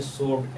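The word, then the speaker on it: sword: क्या who wrinkle जैसे रक डब् आरक डब् साइलेंट है डब् आर एस रि कलाई जैसे सोड एस डब् आडी सोड हैय इसका माने तलवार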